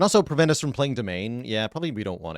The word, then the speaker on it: Demesne: Am I the only streamer that pronounces Demesne correctly? Yeah, it's domain. Like a web domain, but for skeletons.